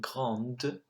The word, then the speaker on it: grande: Then you've got grand and grande, which the pronunciation again changes.